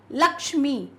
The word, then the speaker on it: लक्ष्मी: तो ये मुश्किल नहीं आएगी उच्चारण देखते हैं लक्ष्मी के का उच्चारण देखिए यहां पर हो रहा है तो